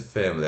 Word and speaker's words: family: Aí, family, né, ó, schwa indicando né, o sílaba tônica, F-A-E-M, fam, o schwa, L-I longo, né, family, family, tá?